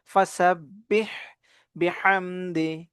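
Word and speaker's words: فَسَبِّحْ: দেখবে ফাসাববিহামদি রব্বিকা ওসতাফির ফাসাববিহ এখানে হা এর উচ্চারণ চাপ দিয়ে পড়ব ফাসাববিহ বিহামদি বিহামদি একে হা চাপ দিয়ে দুইটাকে চাপ দিয়ে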